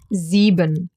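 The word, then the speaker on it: sieben: for example in dodge zeben. Perfect number to repeat some of the things we already learned. S at the beginning of a word pronounced as a Z.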